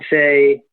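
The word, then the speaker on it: éS: But I'd say the best legit shoe that's still around, that's not going anywhere, it would be S Skateboarding, which is spelled ES.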